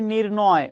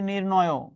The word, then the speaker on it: নির্ণয়: বিষয়টা নির্ণয় করতে হবে আমরা যে বলি নির্ণয় উচ্চারণটা ভুল আজকে মনে রাখেন শব্দের উচ্চারণটা হবে নির্ণয় এখন আপনাকে একটা টেকনিক